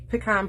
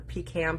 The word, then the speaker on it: pecan: lost Lagoon Misty Moonlight pecan pie or pecan pie depending on how you say it and of course